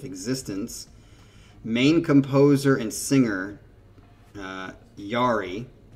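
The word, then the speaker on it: Jari: Having only done three in almost 20 years of existence, main composer and singer, Yari, don't pronounce the J, just like human, has gone through extended periods of writer's block.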